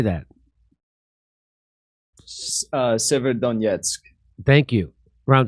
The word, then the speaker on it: Severodonetsk: Severodonetsk. Thank you. Around Severodonetsk, as Russian forces step up efforts to seize the whole of the Luhansk region.